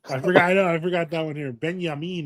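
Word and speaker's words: Binyamin: Benyamin is how they pronounce it in Hebrew cuz he got married to a Funko Pop, says Schwarz.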